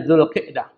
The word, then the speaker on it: Dzulqa'dah: Yang berikutnya adalah yang termasuk bulan hurum, sudah saya jelaskan tadi adalah Dzulqa'dah, tapi yang paling tepat bacanya Dzulqa'dah.